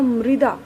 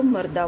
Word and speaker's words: मृदा: इसका उच्चारण होगा मृदा, और बहुत से लोग इसको मर्दा बोल देते हैं, मर्दा।